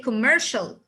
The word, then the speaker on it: commercial: instead of saying commercial i will say commercial why because c and i together it will give me one sound this sound is sho sound so c and i